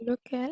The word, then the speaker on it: lequel: Avec Lequel? lequel. Voilà. Lequel. Et c'est là qu'il faut bien prononcer le, hein, parce que si Lequel. entre les deux, on ne sait pas si c'est Lequel. singulier ou pluriel.